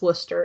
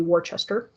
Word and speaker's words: Worcester: Essex and Worcester yes that is pronounced Worcester if you're from Massachusetts even though it looks like it should be Worchester uh in a manner